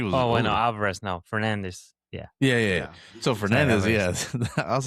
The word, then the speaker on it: Fernandes: It's Fernandes.